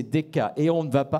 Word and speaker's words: DCK: Le lauréat est la société DCK. C'est Deka.